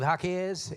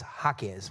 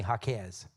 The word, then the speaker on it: Hakez: I am Hakez. In case you're wondering, that's actually how you pronounce it. It's Hakez with the accent on the first syllable.